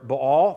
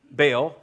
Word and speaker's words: Baal: So for Israel's sake, the big three, for the most part, of the Canaanite gods were Baal, or Baal, however you want to pronounce that, B-A-A-L, Baal.